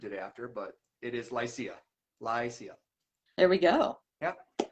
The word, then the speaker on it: Lycia: That's the way you pronounce a name, but LYCIA as a band is pronounced LYCIA. You can make assumptions of what we named it after, but it is LYCIA.